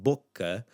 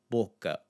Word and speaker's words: boca: looking at in another video, the sound in boca. Here we're going to focus on the first syllable.